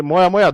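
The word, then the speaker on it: moyamoya: Smoke in Japanese is called as moya. So say moya moya, dhua dhua.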